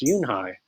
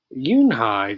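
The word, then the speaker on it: Unhei: turned to joey she nodded slowly yes it's pronounced yoon hai and it means grace mr kim added yoon hi joey said slowly and this time perfectly it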